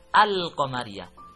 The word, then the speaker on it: al-qamariyah: Ada al-qamariyah berarti bisa dibaca al-qamariyah. Sesudah al tidak ada tasdid. Yang kedua ada al-syamsiyah atau cara membacanya asy-syamsiyah, berarti alnya tidak terdengar.